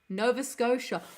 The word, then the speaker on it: Nova Scotia: my my apologies and it's pronounced scoa Nova Scotia well I learned something